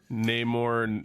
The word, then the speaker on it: Namor: Namor, yeah.